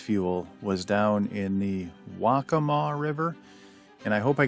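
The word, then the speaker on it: Waccamaw: was down in the wacamaw river and I hope I got that pronunciation right um someone helped me with that wakama wakama wacamaw River at the waca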